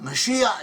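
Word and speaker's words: משיח: In Hebrew the word "Messiah," pronounced in Modern Hebrew as "Mash-iach," meaning someone anointed, someone who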